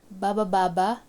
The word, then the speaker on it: bababa: Baba baba, going down. This first one is actually a sentence and it's just made of one syllable, which is ba.